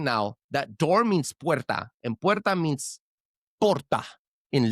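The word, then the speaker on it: puerta: It's not whatever you said. It's perta.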